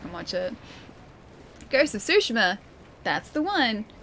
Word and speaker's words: Tsushima: Ghost of Tsushima. That's the one. So there's a T there too, but I don't really pronounce the T.